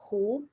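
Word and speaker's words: 胡: character uh is this this word is pronounced as who so this this this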